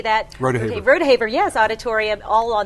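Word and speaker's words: Rodeheaver: Rodehaver.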